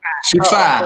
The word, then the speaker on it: Siva: Ya, menarik sekali ya pertanyaan dari, ini bacanya gimana ya? Siva. Oh, Shiva aja ya. Shiva.